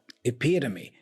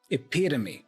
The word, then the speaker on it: epitome: Epitome. Epitome. So the stress syllable here is P. Epitome. Epitome, not epitome, for example.